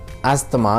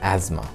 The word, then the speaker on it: asthma: और दमे को जैसे we spell it एज ASTHMA, एस्थमा, लेकिन इट्स प्रोनाउंस्ड एज एज़मा, ठीक है।